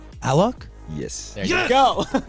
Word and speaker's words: Alok: You know, it's because here you usually would say Alok, right? Yeah. But if you say Alok in Brazil's like South America, people wouldn't really relate to it because there's Aloki. So that's why I try to push Alok everywhere, so we get